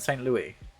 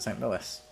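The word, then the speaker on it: St. Louis: we can do that it's Louis after the French King so you pronounce it the French way okay that actually makes a lot of sense so it's Louisville and St Louis okay I always pronounced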